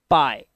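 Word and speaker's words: pie: वैसा पढ़ो आय जैसे पी आई ई आपने देखा दो वाउल आ रहे हैं पहला आई वाउल और दूसरा ई वाउल ई को साइलेंट कर दिया तो पी और आई को क्या पढ़ोगे पाई ठीक है आज आपको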